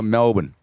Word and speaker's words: Melbourne: Tim, there's no U. It's just O R. No, that's what I said to him. I said, "How do you say Melbourne?" He's Melbourne.